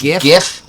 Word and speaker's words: GIF: Also, my official Rabbi ruling, it is pronounced GIF.